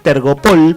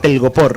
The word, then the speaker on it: telgopor: Hablando de palabras que pronunciamos mal. Telgopor. Claro. A mí me encanta decir tergopol porque suena más lindo. Sí. Y pero se dice telgopor.